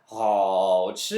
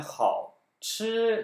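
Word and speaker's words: 好吃: 자, 그래서 好吃 하면은 好吃 이렇게 돼야 하는데 반삼성이기 때문에 好吃 이렇게 간다라는 거죠.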